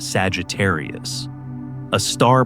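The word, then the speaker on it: Sagittarius A*: At its core, it's a super massive black hole called Sagittarius. A star pronounced Sagittarius, a star.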